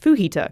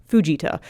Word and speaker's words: Fujita: I thought the enhanced Fujita scale was pronounced enhanced Fujita. I double-checked and found out that Dr. Ted was from Japan. It's pronounced Fujita.